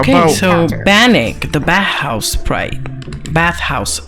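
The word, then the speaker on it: Bannik: How about so Bannock, the bathhouse sprite.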